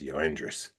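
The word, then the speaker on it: Yoendrys: Only reason I know how to pronounce it because when we played the White Sox, the announcers pronounced it, and I was like, okay, that's how you say that shit. It's Yoendris.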